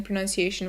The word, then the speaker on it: pronunciation: be a little tricky first that c actually sounds like you're saying the letter c pronunci and the word ends with the t-i-o-n which sounds like shun anytime that you see